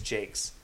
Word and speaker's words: Jacques: Brian Jacques, or I think it's Jakes. I always used to say Jock because that's how it's spelled.